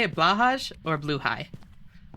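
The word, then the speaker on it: Blåhaj: Because I know that it's Bluhai, but honestly, you say Blowhai? That works too. I think that Blahaj just sounds cute, though.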